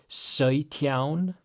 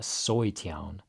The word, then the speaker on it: sautján: So our AU makes that A sound. It's not like oi, like OI in English, like what a pig says, but sautján, more in the back of your mouth. Sautján for 17. Sautján. So it's not soy. It's not soytján, but sautján.